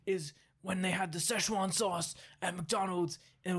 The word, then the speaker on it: Szechuan: Did you know what that McDonald's announced, and they currently have Szechuan sauce and Cajun sauce.